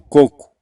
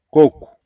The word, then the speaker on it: coco: você vai perceber que o segundo o ele é pronunciado como se fosse com o som de u coco coco Então essas pessoas tendem